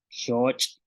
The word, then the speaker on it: xooch': Y con la X tenemos shoch, que es búho. Shak, canasta. Shun, esposa.